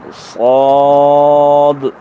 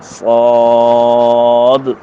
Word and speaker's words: صاد: صاد تلفظ میں دال نہیں پڑھا جاتا، نام میں دال پڑھی جاتی ہے.